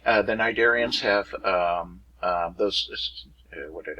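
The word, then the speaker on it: Cnidarians: tonoffer and sniderians when you see those double weird consonants at the beginning of the word you're probably looking at something greek anyway the nidarians have um those what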